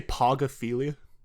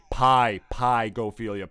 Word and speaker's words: pygophilia: Did you just say pogophilia? Hang up the fucking call right now. No, I'm being serious. Is that how it's spelled? Like P-O-G? Pygophilia. P-Y. Okay, oh, okay.